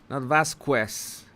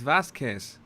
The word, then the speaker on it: Vasquez: produce pronounce fast cass vasquez vast quests my god that is that is murdering th that that that that beautiful last name vast quest for god's sake is vasquez vasquez let's let's let's do